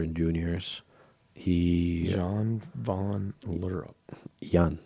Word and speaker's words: Jan: Jan. It's Jan, not John. Jan.